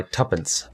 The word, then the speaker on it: tuppence: my two pence wisely my tuppence tuppence now what two pence is I think so tuppence it's like the British pronounce everything wrong I suppose that would